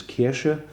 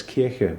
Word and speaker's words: Kirsche: I even pronounced cherry, which in German is Kirsche, and I pronounced it as Kirche, which is church.